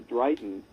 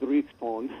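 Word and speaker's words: dryghton: dragon well yeah it's spelled d r y g h t o n and so it's one of those old you know probably they pronounced it dribbon but um the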